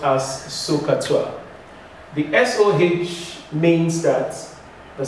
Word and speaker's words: SOHCAHTOA: But mostly it is pronounced as SOHCAHTOA.